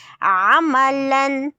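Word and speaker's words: عملًا: عملن، عملا. اچھا، ہجے کریں گے، عملن. ہجے کرتے وقت یہ الف نہیں پڑھا جائے گا، یہ الف یہ الف یہ الف یہ الف نہیں پڑھا جائے گا.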